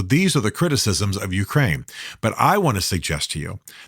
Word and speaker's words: Ukraine: The first reason that I believe is absolutely critical for us to support the Ukraine, not the Ukraine, but Ukraine, that's the proper way to say it, as they face down the Russian incursions, is Russia itself.